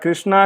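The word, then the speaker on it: Krsnaa: The spelling is a little bit different, but Krishna is the way you pronounce it, and they are planning an IPO very soon.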